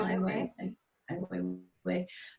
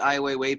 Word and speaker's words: Ai Weiwei: Ai Weiwei.